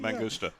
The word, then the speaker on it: Mangusta: Mangusta.